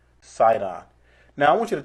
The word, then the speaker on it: Sidon: be unto Zidon, or which is pronounced Sidon with an S. It's the same thing. If you look in the New Testament, you'll see it pronounced Sidon.